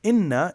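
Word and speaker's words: إِنَّ: Same thing, inna is long and short. Inna.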